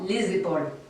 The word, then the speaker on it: les épaules: Je vous rappelle qu'il faut prononcer ce S final d'une façon très sonore. Les épaules.